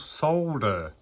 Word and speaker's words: solder: It's called solder. Why do they call it soldering? Soldering, it's solder. And it's some of the stuff you like, what? English, just what they're doing is they're pronouncing as it's spelt.